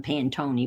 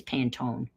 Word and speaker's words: Pantone: and I'm kidding around I'm pronouncing them paying Tony but I think it's Pantone and that's the correct pronunciation and it's it's they're